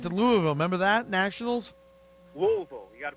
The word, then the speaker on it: Louisville: Louisville. You got to pronounce it right, yeah. Louisville.